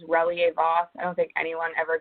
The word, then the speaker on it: Relyea-Voss: So, as she said, the pronunciation of my last name is Reier Vos.